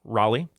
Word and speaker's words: Raleigh: Coming to us from Cary, North Carolina, right outside of Raleigh, is Megan Munson. How are you, Megan? Great. How are y'all? Great. Did I said it right? Raleigh? Raleigh, that's correct.